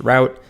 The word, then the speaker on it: route: first route and we will do the route route i always like to start there and that's always a confusing phrase to some of my students because this word that i pronounced route some of them will pronounce as route i